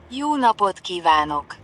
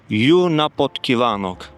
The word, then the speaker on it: Jó napot: I don't even know how to pronounce it. It's uh Let me check it on on Google. Sounds like this. Yunapotan. Yunapotan.